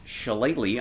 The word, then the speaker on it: Shillelagh: I don't know if you know how to pronounce that word, but it's Shillelagh. I'm 90% sure that that's I was going to say correct.